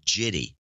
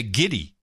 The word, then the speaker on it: giddy: meaning to discuss this, why he says jitty. Well, he means to say giddy. He means to say giddy, but he probably thinks it's pronounced like jiff.